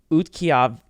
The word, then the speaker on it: Utqiagvik: Okay, guys, everyone listening, it's spelled UTQI, which I've never seen without a U. UTQIAGVIK. Utqiagvik. I'm not looking at the pronunciation. Utqiagvik. And this is it. Oh, Julia, you're pretty close. I actually think you said it right.